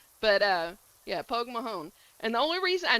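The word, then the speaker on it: Pogue Mahone: Poke Mahone. That That's how you say it. Well, you probably say it with a little bit thing. I'm saying it with a southern accent, but uh yeah, Pog Mahon.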